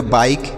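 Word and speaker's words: bike: जैसे देखिए बी से पढ़ेंगे ब, आई से आई लिखेंगे और के ई से क, तो यह हो गया बाइक, बी आई के ई बाइक हो गया।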